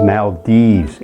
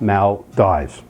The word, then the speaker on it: Maldives: as you have heard it is maldives and not mal dies now that we have